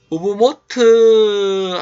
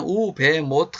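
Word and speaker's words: וּבְמוֹט: 그거 보면은 우부모트 하림, 옛날에는 우베모트 하림 이렇게 발음하는 분들도 있었는데, 요즘에 메콤 마무레 그 성경에서 이 히브리어를 전 세계 사람들이 다 읽을 수 있도록 발음을 공급하고 있는데, 들어보면 확실히 이제 여기는 바브를 그냥 하나의 비읍으로 취급을 해서 우부모트 이렇게 이제 하는 경우가 많이 있다 하는 거 아시고요.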